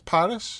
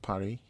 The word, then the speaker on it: Paris: you not calling it Parry that's how the French pronounce it because it's Paris it's